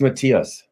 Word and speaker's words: Matthias: How do we pronounce it correctly? It's Matthias. Matthias, see?